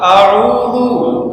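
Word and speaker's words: أعوذ: আউজুবিল্লাহি মিনাশ শাইতানির রাজিম অনেকখানে আউ আউ না আউ আউ ওয়াও না আইন আইন আইন কি আইন আইন ওয়াও যদি বলেন অর্থ ঠিক থাকবে না পাল্টাবে পাল্টালে নামাজ হবে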